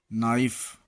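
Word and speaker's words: knife: के silent, N के पहले आया हुआ के प्रायः साइलेंट हो जाता है, जैसे नी, घुटना, नॉलेज, नाइफ, नॉट।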